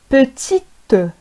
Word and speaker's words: petite: إذن المذكر لو ماسكولان نقول بوتي بوتي بوتي، وفي المؤنث لو فيمينان نقول بوتيت، نضيف او بوتيت بوتيت بوتي بوتيت.